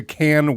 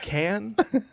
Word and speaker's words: Cannes: Is it in fact pronounced can? I think it is. Adam? I say it's con.